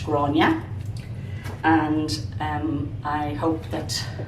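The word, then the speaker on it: Gráinne: remember it but anyway it's pronounced gronia and um i hope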